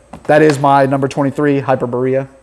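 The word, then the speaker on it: Hyperborea: is my number 23 hyper Berea I think that's how you say it though we call it hyper burrito burrito but yeah hyper Berea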